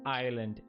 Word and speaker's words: island: Island, S is silent.